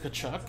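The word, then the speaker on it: Tkachuk: I don't know, I pronounce it Kachuk.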